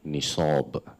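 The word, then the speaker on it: نصاب: So the first term will be nisab. Nisab. We spell it in Arabic, Noon, Sad, Alif, Ba. The transliteration for that would be Nisab, Nisab.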